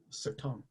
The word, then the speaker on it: Certain: but it's certain correct so it's french and it's not tom but it's certain sir tom nice okay very good